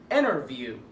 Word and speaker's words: interview: No, it's not interview, it's interview. interview. طب ازاي؟ التي اهي جايه قبليها ان وبعديها حرف متحرك فهتبقى ايه؟ محذوفه silent T فهتبقى interview.